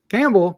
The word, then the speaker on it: Campbell: written by Lucy Campell Campbell why did I put I you don't pronounce the p in Campbell do you no don't